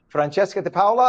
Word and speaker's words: Francesca DiPaola: Good morning, and I'm hoping, is it Francesca DiPaola? Am I pronouncing it properly in That's Italiano? absolutely, that's correct.